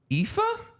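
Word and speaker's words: Aoife: uh Eric Lyra valko's real first name it's pronounced epha huh you're never going to get this epha her real name is pronounced epha but it's spelled you want to even try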